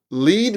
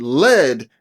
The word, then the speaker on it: lead: We also have homographs, or words that have the same spelling but a different pronunciation depending on how we're trying to use the word. For example, lead means to guide, but lead is going to be a type of metal.